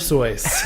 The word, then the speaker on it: Seuss: Seuss I don't know what it was oh my god that's the German pronunciation that's over the rest of time we're gonna say Duggar sois nope I'm going with the American is dr.